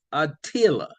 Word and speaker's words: Aila: My name is Aila. In your world, I would be looked at as a unisex being. Aila, you can spell that however you choose. I don't care. I just give you the sound.